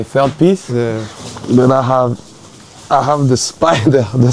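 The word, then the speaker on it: ห้า: write hahaha with five cuz five is pronounced ha.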